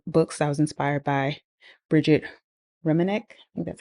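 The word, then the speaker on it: Brigette Romanek: stacks of book books I was inspired by Bridget ranc that's how you say her name she's a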